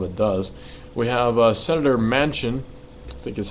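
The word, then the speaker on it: Manchin: a lot of it does we have Senator Mansion I think is how you say his name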